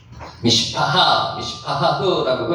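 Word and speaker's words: מִשְׁפָּחָה: 미시파하흐라고 읽고요. 이게 종족, 친족을 이야기합니다. 미시파하.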